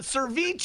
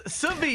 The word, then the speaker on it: ceviche: I used to add an R and call it ceviche. It's ceviche. I don't understand why you guys are always picking on the disabled.